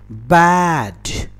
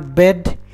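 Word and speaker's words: bad: बैड, इट इज नॉट बेड, इट इज बैड।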